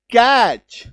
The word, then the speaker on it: catch: ये देखिए, जैसे टीसीएच, अगर किसी शब्द में आपको टीसीएच नजर आ जाए शब्द के लास्ट में, तो उसका उच्चारण च होता है। जैसे CATCH कैच, ठीक है, MATCH मैच,